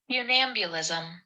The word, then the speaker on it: funambulism: Funambulism. Did you get it? Funambulism? Funambulism. Funambulism. Funambulism. Right. Funambulism. Okay. So we I'm thinking of like be ambulance. Fun ambulance. Funambulism. That's kind of how it's spelled.